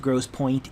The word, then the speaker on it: Grosse Pointe: most and yes I know Grosse Pointe is gr o s SE p o int E which means it's French so it should not be pronounced Grosse Pointe it is pronounced Grosse Pointe just like that